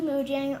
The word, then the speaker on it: Mojang: I'm it's very- Lily Mojango. Oh my God. No! Oh, okay. That's not how you pronounce it. Lily Mojango. Oh my God. No, Lily Mojang.